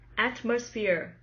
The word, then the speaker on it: atmosphere: first syllable and thumb atmosphere atmosphere the stress is on the first syllable atmosphere atmosphere compose composed